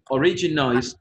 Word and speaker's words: origin: Remember, the pronunciation of this word is origin, origin. With the stress at the beginning, origin.